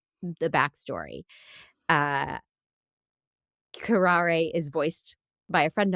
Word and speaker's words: Curare: Touch of Curare, yeah, absolutely.